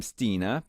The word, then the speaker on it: Stina: And Stina Johansson from Sweden says, Hi Moon, I'm Stina. I pronounce S-E-E, Stina, okay.